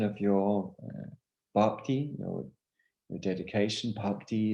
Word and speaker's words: bhakti: your baptism your dedication bhakti is spelled p h a k t i park d so there's an h in there which you should enunciate because there's an aspirated bar sound and an unaspirated bar sound and they're different